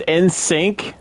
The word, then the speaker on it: NSYNC: Okay, now, I always thought it was in sync, not in. No, you're saying it right. It is in sync.